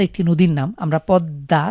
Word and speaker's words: পদ্মা: উচ্চারণ করি যেমন পদ্মা পদ্দা একটি নদীর নাম আমরা পদ্মা দ এর নিচে ম ফালা রয়েছে কিন্তু আমরা দ কে দুইবার উচ্চারণ করছি ঠিক একই রকম আরবিতে